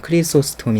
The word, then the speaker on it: 크리소스톰: 역사들이 그쳤다고 말합니다 어 크리소스토무스 혹은 뭐 영어식 발음은 크리소스톰 있데요 어이 사람은 고린도전서 12장의